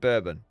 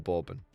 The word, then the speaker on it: Bourbon: Is it bourbon or borbin? I think it's borbin is a French family and bourbon is how Americans say alcohol or an alcoholic beverage so to say.